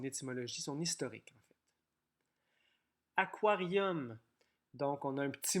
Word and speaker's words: aquarium: Peut-être que tu pourrais transformer le U en bocal de poisson rouge ou un petit aquarium, puisque ça s'écrit aquarium, mais on prononce aquarium.